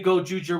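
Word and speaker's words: Gozyuger: Where he says, I say Gojuger with a Z instead of a J. Well, it's just Z is pronounced as a J sound in Japanese.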